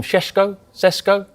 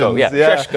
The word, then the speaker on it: Šeško: Benjamin, we call him Sesko? Hey, we have Tim Vicker. Sounded like Sean Connery. Great pronunciations. Sheshko, I think that's how you pronounce it.